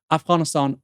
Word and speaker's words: Afghanistan: People are saying, why are you saying Afghanistan like that? Afghanistan, I'm half Iranian. That's how you say it, okay?